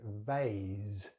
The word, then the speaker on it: vase: Next word, we have the long vowel sound R in British English, vase, vase. And of course, it's a Z sound at the end. Americans use a very different vowel sound, so they say vase, vase, and they use an S sound at the end.